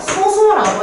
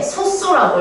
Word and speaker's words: 소수: 몰랐지만 프라이너만 알고 있었거든요 그리고 읽을 때 우리가이 친구는요 소소라고 읽어주는데요 얘는 읽을 때 쓸 때는 소수라고 했는데 그냥 약 이건 소수야라고 하면 어떤 수술을 말하는지 알 수가 없죠 사실 신기하게도이 친구는 읽을 때 소소라고 읽어요 그래서 우리 만약에 쏘쏘라고